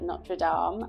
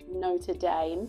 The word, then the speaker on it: Notre Dame: that I'm pronouncing differently in French you call it nraam my husband calls it Notre Dame but nraam High School